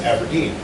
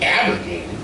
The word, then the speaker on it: Aberdeen: I don't like it when people like put the wrong emphasis on the wrong syllable or on the wrong thing in a word, like Aberdeen. Aberdeen. I was born here. It's Aberdeen. Aberdeen. But people are like, Aberdeen? Let's go down to Aberdeen.